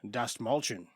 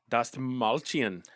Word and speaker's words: Dastmalchian: Dastmalchian. Dastmalchian.